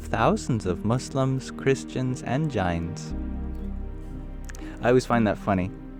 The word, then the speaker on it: Jain: Swami Sri visited the homes of thousands of Muslims, Christians, and Jains. I always find that funny. Did you know that the correct pronunciation of the Jains is Jain?